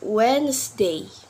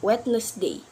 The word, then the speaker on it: Wednesday: pronounce d in wet in the word we're not pronounced the letter wheel we pronounce Wednesday not wetness day the next word is